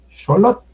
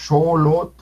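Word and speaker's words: Xolotl: Xolot, Xolot, Xolot, con las dos O largas, Xolot, Xolot, quiere decir un ayudante, sirviente.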